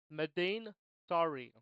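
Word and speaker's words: Madain Sari: with episode 11 um the way you say this is mine sorry medine sorry sounds like the word sorry but it's sorry uh that is the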